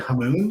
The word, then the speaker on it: Hamoen: Hey, It's a Dutch last name and it's like Moen, like the faucet, but I've always said Hamoon.